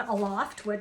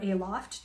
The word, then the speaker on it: Aloft: And so they were having a sale on Aloft, or Aloft, depending how you want, what syllable you want to accent, which is a brand